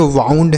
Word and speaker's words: wound: WOUND, इसे हम पढ़ेंगे वाउंड।